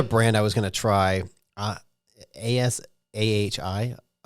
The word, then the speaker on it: Asahi: ASAHI. It's like acai, but it's not how acai is spelled.